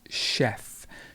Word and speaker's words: chef: difficult for many people it's chef chef so the ch in this example becomes chef and you will notice